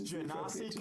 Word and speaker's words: Genasi: It's Genasi confirmed D&D Beyond. It has a pronunciation button. Oh, cool. I'll take it. It's Genasi.